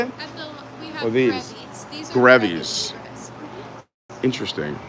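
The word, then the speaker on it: Grevy's: They're called grabby zebras? Is that how you say it? We have Or these? grevies.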